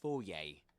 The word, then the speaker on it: foyer: So you can say in the foyer in the foyer actually in the foyer. That's the way you pronounce it.